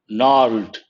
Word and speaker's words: gnarled: There is one important word over here, gnarled. G is silent, means rough and twisted.